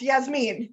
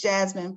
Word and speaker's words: Jasmine: Yes, Yasmin, thank you. Go ahead. It's pronounced Jasmine, Professor.